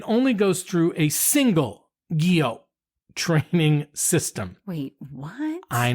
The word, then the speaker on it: Guyot: Just say Guyot. Okay. And now the next T is silent. Okay, so the next time you're at a restaurant. It's not Guyot.